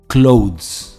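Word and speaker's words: clothes: miss pronounce होता है इसकी सही प्रोनंसिएशन है क्लोथ क्लोथ य एक वन सिलेबल वर्ड है क्लोथ्स आई बॉट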